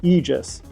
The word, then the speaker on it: Aegis: Keenan, I'm sorry, if I called it Aegis, I am sorry, it is the Aegis. So let's just make sure we pronounce it Aegis coming up.